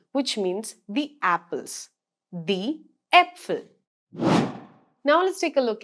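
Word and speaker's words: Äpfel: melon it's e melon that's exactly how a with two dots on top of it is pronounced in german an example here would be apfel the apfel which means the apples the apfel now let's take a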